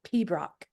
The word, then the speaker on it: pibroch: For instance, there's a type of piping that we do called pibroch. It's just 2 syllables, but you don't pronounce most of them.